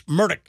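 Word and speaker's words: Murdaugh: said like Alex and then he said it's murdick murdick so murdick he that's how he pronounced it but it looks like a murder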